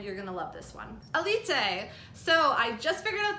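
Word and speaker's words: Élite: out this year that I was saying a leap seemed wrong because I was pronouncing it elite but that is apparently not how you do it according to Netflix so Aleta is basically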